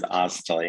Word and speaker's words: Oztalay: My last name is Oztalay. In other words, it's spelled.